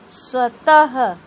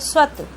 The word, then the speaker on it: स्वतः: इसे बोलने में हा ध्वनि निकलती है।